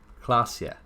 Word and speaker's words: Klasje: Klasje is pronounced Klasje. That was the name of that girl. Klasje. So, Revachol, Oranje, Klasje.